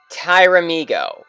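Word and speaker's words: Pteramigo: and it creates Kishiryu Tyramigo with a P in front. You know, it's spelled silent P, and then Tyramigo. That's really what the wiki says. It's Kishiryu Tyramigo with a silent P.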